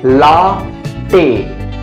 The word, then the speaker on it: latte: Correct pronunciation of this word is Latte.